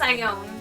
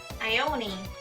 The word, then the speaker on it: Ione: least who believes in me i think it's i own but yeah i mean i could be wrong